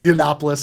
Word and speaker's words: Yiannopoulos: Like what would ultimately Milo Yian, I never know how to pronounce his last name, Milo Y. Oh, That dude, Yeah, yeah, Yiannopoulos, yeah.